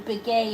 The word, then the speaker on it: Begaye: It's spelled B-E-N, and then Biguet is his last name, B-E-G-A-Y-E.